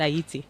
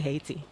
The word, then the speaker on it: Ayiti: So people in Aiti pronounce it Aayiti. They don't say they don't say hatiti.